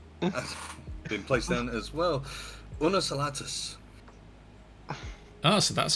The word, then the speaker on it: Unus: M lady and been placed down as well unus oh so that's how you pronounce that cool uh it took me a while to figure that one out the mtin is carrying not asking but yes unus as well that join their channels uh anyway